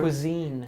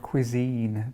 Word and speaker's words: cuisine: Cuisine. Cuisine.